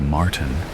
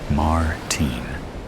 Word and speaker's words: Martin: He pronounces Martin in the American way rather than the way I prefer it. Martin.